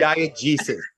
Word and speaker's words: diegesis: it's not diabetic, but diegesis. Diegesis. I'm so sorry. That's all right. Just think the G for globe, and what is the diegesis with the globe in the middle there refer to? Diegesis is The narrative, because it's the right.